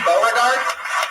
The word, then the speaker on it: Bard: with it Bard m is that how you say your name Bard yeah thanks for the pronunciation people usually get at wrong what's that people usually